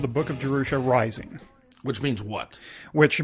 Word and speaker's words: Jerusha: is jerusa that pronoun did I pronounce it right jerusa that's right it is jerusa is jerusa a a